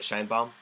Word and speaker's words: Shienbaum: Shienbaum.